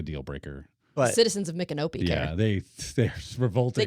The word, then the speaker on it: Micanopy: So here we're in Central Florida, and there's Ocala, Micanopy. There's cities with weird names, right? And my canopy.